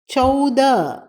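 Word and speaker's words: चौदह: அடுத்ததுத 13 தேர தேர இங்கும் அப்படித்தான் தேரஹ என்று எழுத வேண்டும் உச்சரிக்கும் போது ஹவை அடக்கி உச்சரிக்க வேண்டும் 14 சவத சவத இங்கும் ஹவை அடக்கி உச்சரிக்க வேண்டும் எழுதும்போது மறக்காமல் ஹ எழுத வேண்டும் 15 பந்திர பந்திர திரா எப்படி போட்டிருக்கின்றது என்று என்பதை கவனித்து கொள்ளுங்கள்.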